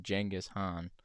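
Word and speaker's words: Genghis Khan: podcast about Genghaskhan, which apparently it's pronounced Jenghis Han, but you know, that just seems silly at this point.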